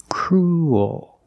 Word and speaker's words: cruel: it's not uh it's not an extra vowel it's one vowel cruel oh your mouth opens and you make an extra little sound cruel like pool and cool example this boy is